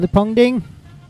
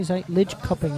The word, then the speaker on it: Lidköping: They've been in Fuktorf and they've been in Sweden in Lipongding. Lidköping, actually, Lidköping is how you pronounce it. I always say it wrong.